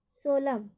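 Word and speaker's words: solemn: कोलम, डम और सोलम। Kolam, dam, सोलम। पी का उच्चारण, कि पी का उच्चारण हम कब नहीं करते हैं?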